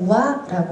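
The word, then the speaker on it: 和: 자, 화할 때, 지금 화합할 때 화자입니다만 일본어를 읽을 때는 우아라고 발음을 합니다.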